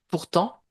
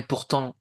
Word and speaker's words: pourtant: Pourtant alors ici néanmoins, néanmoins, pas facile non plus à à prononcer néanmoins. Néanmoins. Voilà. Cependant et pourtant, vous ne prononcez pas le T final, hein.